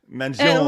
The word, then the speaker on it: Mangione: She gets on me for saying the name wrong. Yes. Wait, how do you say it? Mangione.